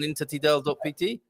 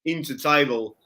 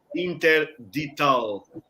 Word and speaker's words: intertidal: They always say interdital, like something forbidden, interdito. So it's easier, even for a Portuguese person, it's easier to spell intertidal.pt.